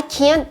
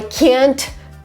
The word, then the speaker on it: can't: So it's very, the T is very subtle, but because I'm stressing can't in the sentence, it means that I am not able to do this.